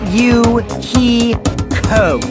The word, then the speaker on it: Fuyuhiko: My first name is pronounced U-He-Ko.